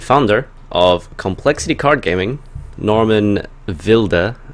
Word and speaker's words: Norman Wilde: I think is how you say it properly in German. Is that right? Yeah. Unfortunately. Or you guys can just say Norman Wilde because he's absolutely wild and mad.